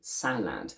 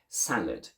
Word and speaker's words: salad: a full a sound we don't say salad but we reduce it to the schwa we say salad and by making the